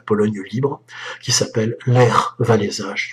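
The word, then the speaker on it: Wałęsa: libre qui s'appelle maire va les âges tous prononcés à la polonaise en français dit lech walesa l'attentât raté après chantant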